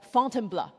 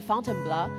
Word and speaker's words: Fontainebleau: So after Paris, Paul took me just outside the city to a forest park called Fontainebleau. This is how he taught me to pronounce, to try out our mountain filter.